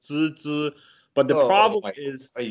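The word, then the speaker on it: 郅支: It's actually, in modern Mandarin, it's pronounced Zizi.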